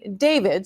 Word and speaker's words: D4VD: the car, which was a Tesla that belonged to a singer and Queens native who goes by the name David spelled with A for period.